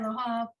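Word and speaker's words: אלהיו: Okay, so in this case, that yud is silent. It's there for changing the nature of the word. Oh, make it Elohav.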